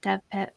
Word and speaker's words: DVpit: done Pit Mad and do you pronounce it DV Pit? I always say DV Pit. Mm-hmm. Dev Pit. Yeah.